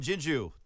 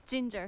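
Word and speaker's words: JinJoo: Oh, and Jinju. Did I say that right? Yes. I mean, when I mispronounce names, I feel like a jerk the rest of it. Usually it's Ginger.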